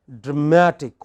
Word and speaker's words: dramatic: Say for example, all words ending in IC, ick, have this kind of stress on the pre-final. So, you have dramatic. What is it? Dramatic. Next. Scientific. Next. Sympathetic.